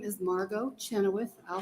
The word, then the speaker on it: Chenoweth: good afternoon good afternoon my name is Margo Chenoweth I'll spell it for you m-a-r-g-o last name is c